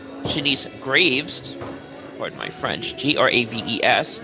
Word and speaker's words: Graves: Well, for starters, if you notice her opponent, and her name is Shanice Graves, pardon my French, Graves, not Grace.